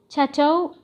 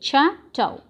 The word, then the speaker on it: chateau: Chateau pronunciation is SH, chateau.